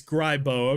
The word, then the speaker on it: Grybo: Is it Grybo, Grebo, just Gribbo? I'm not sure if you have a preference on how you actually like being it's okay. It's Grybo.